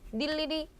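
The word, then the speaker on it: 늴리리: 자음을 첫 소리로 가지고 있는 음절의 의는 이로 발음한다. 그러니까 얘네들은 발음을 어떻게 해야 되는 거예요? 전부 다 닐리리.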